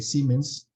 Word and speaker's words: Siemens: también se llama siemens se escribe siemens pero se lee siemens Entonces se pueden hacer